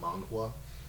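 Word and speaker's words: manhwa: but it's a man of mangwa I believe it's how you say it um but yeah I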